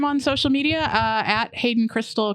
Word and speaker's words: Kristal: y s a l it's pronounced like the meth but spelled like a stripper so it's easy to